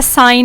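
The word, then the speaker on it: sign: Word pronounce करते हैं, for example foreign है, फॉरेन में आप देखते हैं जी हमने प्रोनाउंस नहीं किया, या साइन में हमने जी प्रोनाउंस नहीं किया, ऐसा एन ऐसा लगता है बोलने में इसके स्पेलिंग होंगे, लेकिन जो है वो लिखने में हम फॉरेन और साइन में जी लिखते हैं।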